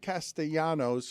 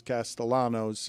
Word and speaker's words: Castellanos: Uh, I was surprised to see Nick Castayanos, although he pronounces as Castellanos.